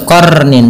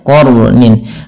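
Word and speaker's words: قرنٍ: warna biru yaitu artinya kita membacanya dengan jangan dibaca qarnin tapi dia qornin.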